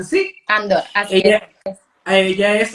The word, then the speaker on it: Andor: ¿Se pronuncia así? Andor, así es.